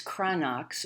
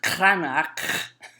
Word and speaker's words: Cranach: When we look at Lucas Cranach's, or more correctly pronounced Cranach, and we think about